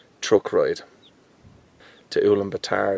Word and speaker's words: Ulaanbaatar: That's how you pronounce it, not Ulaanbaatar. It's Ulaanbaatar. Say it with a Dublin accent and you get it right.